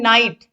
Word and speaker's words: knight: जैसे KNIGHT, इसको हम पढ़ते क्या है, नाइट मतलब योद्धा, योद्धा या वीर। तो इसमें के क्या है, साइलेंट है, केवल नाइट पढ़ते हैं।